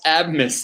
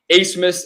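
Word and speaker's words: Abmas: name so it's max a smith it's a german name you don't pronounce the b miss and i made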